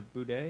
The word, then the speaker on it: bidet: this is kind of supposed to be acting as like is it a bidet? Is that how you Bidet. pronounce it?